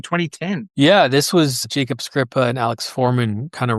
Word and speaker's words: Skripa: Yeah, I wrote it alongside Jacob Skripa and Alex Foreman. Okay, so that was one of our questions. We've been pronouncing it Skrizpa, so it's Skripa.